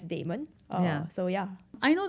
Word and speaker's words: Blockdaemon: Like some of my colleagues still call it demon, like Blockdaemon. But I mean, I got used to pronounce it as Daemon.